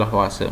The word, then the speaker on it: Lavoisier: Hukum kekeliruan massa atau hukum Lavoisier, tulisannya Lavoisier, bacanya Lavoisier, menyatakan massa sebelum zat massa sebelum dan sesudah reaksi adalah sama.